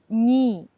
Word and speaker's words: не: The particle не in the sentence is pronounced as ни.